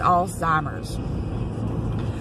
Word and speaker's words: Alzheimer's: don't say it right, it's not got a T in it, it's Alzheimer's, but it's taking these memories away from somebody.